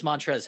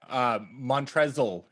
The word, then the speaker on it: Montrezl: Montrezl Harrell. Don't forget that silent L in there.